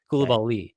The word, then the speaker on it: Coulibaly: It's Coulibaly, and that's just way harder to say, and I don't love it. But I'm gonna really try to get it to just make that Coulibaly. Coulibaly, like emphasis on the last syllable.